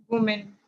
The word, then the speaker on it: women: Okay, you see this is the spelling of the Women. women. We men. WOMEN. हाँ, WOMEN. WOMEN. इसका pronunciation होता है we main, WEMEN जैसा pronounce करते हैं.